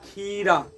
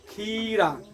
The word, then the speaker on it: खीरा: जिसका उच्चारण हो वो बड़ा बोलेंगे खीरा खीरा पूरा खी तब रा तो इस अनुसार से य हो गया बड़ा इसी में बोलता तिथि तिथि